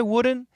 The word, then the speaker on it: wouldn't: well i wouldn't now what's interesting here is this word the daily pronunciation is going to be the same as wooden the same same pronunciation and there's a rule there's a reason in american english the n is a strong sound and it can cancel the t so the n let